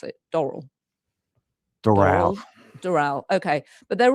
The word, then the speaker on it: Doral: Hotel in Florida or Doral, how do you pronounce it? Doral?